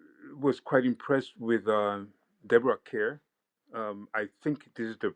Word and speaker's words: Kerr: I was quite impressed with Deborah Kerr. I think this is the very first time I see her, and when she starts Star. It speaking, rhymes with star, as we were always reminded by.